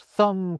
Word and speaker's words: thumb: They thought thumb, crumb and limb should have silent B's, like comb, lamb and womb.